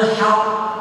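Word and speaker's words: حقّ: Jadi ini ma tabayyana lahumul haq, bukan haq, gitu ya. Haq karena ada tasydidnya, namanya qalqalah akbar atau syiddatul kubra, ada tasydidnya itu lahumul haqq.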